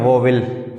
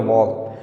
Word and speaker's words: vowel: पहले तो मैंने काफ़ी बार देखा है इसको बच्चे पढ़ते हैं वोविल, जो सरासर गलत है। इसकी सही प्रोनाउंसिएशन जो होती है, वो प्रोनाउंसिएशन जो सही इसकी होती है वो होती है वॉल।